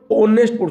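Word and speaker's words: honest: किु पौ को एच हम होनेस्ट हो पें ओनेस्ट एच ओ एन इ एस टी ओनेस्ट ओनेस्ट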